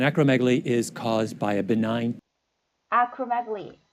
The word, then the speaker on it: benign: 여기도 보면은 두 번째 음절의 강세였잖아요. benign.